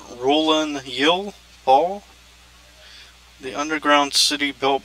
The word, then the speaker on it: Rulanyil: like that um and I think it's pronounced ruling yel Paul the underground city